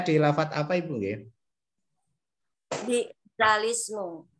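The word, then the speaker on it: بئس الاسم: Bi'salismu. Iya, tulisannya bi'sal ismu, bacanya bi'salismu, seperti itu nggih.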